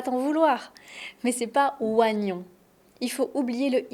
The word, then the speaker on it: oignon: Un oignon avec la liaison. Un oignon ou des oignons. Je mange des oignons. J'aime la tarte à l'oignon. Donc c'est pas wa c'est. Oignon.